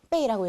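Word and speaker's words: 被: 요거 어떻게 읽어요? 빼이라고 읽습니다.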